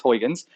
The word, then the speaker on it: Huygens: So Christian Huygens, I've never been quite sure how to say his name. Everyone says it differently. I'm pretty sure it's Huygens, saw that light diffracted around obstacles or through slits.